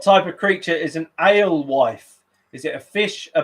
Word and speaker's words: alewife: So what type of creature is an alewife? Is it a fish, a bird, or a cat? A-L-E, as in ale, and wife, W-F-E, alewife.